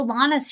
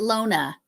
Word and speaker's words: Lana: Oh, Lana's here. Or is it Lona? Which way do you pronounce that one? I would say Lana.